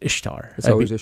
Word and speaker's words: Ishtar: different places yeah and it was it's always Ishtar it's Ishtar it's not eastar um it's not a it's